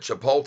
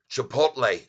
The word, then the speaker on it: Chipotle: they just started and it says here that chipot is going to be giving and this was from yesterday's news chipot me I'm sorry Chipotle I'm sorry I said it wrong again Chipotle